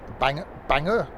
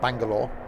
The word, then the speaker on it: Bangor: Bangor, not Bangalore.